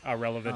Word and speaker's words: AhRelevant: and i know who irrelevant is the actual word irrelevant was taken and i like it so it's pronounced exactly like the word irrelevant like somebody is a